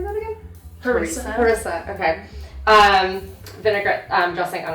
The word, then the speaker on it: harissa: Harissa.